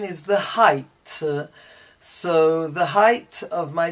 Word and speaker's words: height: The GH is not pronounced, but this is pronounced height, whilst this is pronounced weight.